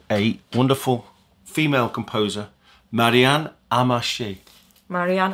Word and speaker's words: Amacher: maybe Belgian family background so it's a French pronunciation amashi it's a really